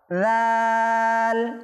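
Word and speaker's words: ذ: লালটা উচ্চারণ করার জন্য জিহ্বার আগাটা দাঁতের আগায়, উপরের দাঁতের আগায় লাগিয়ে দেব, অটোমেটিক হয়ে যাবে, সহি শুদ্ধ করে লালটা উচ্চারণ হয়ে যাবে।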